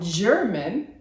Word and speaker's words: German: called the German cockroach the G in German has the soft G sound jip jip jip like giraffe we talked about the